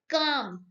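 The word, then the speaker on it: calm: While काम, काम इज अ word जिसमें एल साइलेंट है, okay, L is silent, so here this is the answer, option ए।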